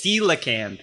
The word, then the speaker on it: coelacanth: It's coelacanth, yes. It's spelt like coleocanth, but it is, in fact, the coelacanth.